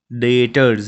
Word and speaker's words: debtors: So students, remember that here B is silent. It will be pronounced as debtors, DETORS, not DEB।